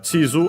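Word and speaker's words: 地図: Then uh chisu accent on the first syllable.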